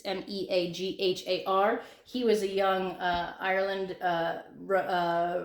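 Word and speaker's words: Meagher: But it's Thomas Francis, and if you were reading it, you would say Megar or Megar, but that's not how you say it in English.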